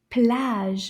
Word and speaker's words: plage: Plage. Can you say that? Plage. And then we'll say it a little faster. Plage. Now let's count the syllable in this word. Plage. Plage. Une syllabe. Just one syllable.